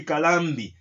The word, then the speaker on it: Kalambi: Calabi. Is it Calabi or Kalambi? I stand to be corrected. I don't know how to pronounce it properly. It should be Kalambi. Okay?